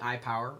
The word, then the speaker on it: IPWR: I power or ipwr I'm not exactly sure how they want me to say it but I'm going to say I power because it's pretty much what it is although it's spelled I pwr I've got to say